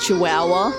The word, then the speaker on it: Chihuahua: It is Chihuahua. Chihuahua's spelt. That's a lot of H's that don't need to be there.